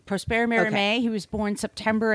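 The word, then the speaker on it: Prosper Mérimée: I believe Prosper Merimee. With French. My high school French, that's what I believe it is. Prosper Merimee.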